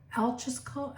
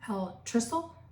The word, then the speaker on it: altricial: So altrical, actually it's pronounced altricial, or altricial and precocial.